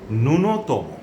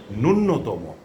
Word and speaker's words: ন্যূনতম: কিন্তু আমরা উচ্চারণ করছি নূন্যতম অর্থাৎ জফলাটাকে নিয়ে যাচ্ছি পরবর্তী ন এর সাথে এটিও মারাত্মক ভুল এ উচ্চারণটি করবো না আমরা বলব নূনতম নুনতম এমন করে আমরা উচ্চারণ করব আমরা কখনোই নূন্যতম বলবো না তারপরের শব্দটি হচ্ছে মত বিনিময়।